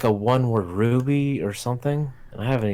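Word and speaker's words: RWBY: I always thought that I never knew they pronounce a ruby I always thought since it was just letters they pronounce it our waby oh my god thank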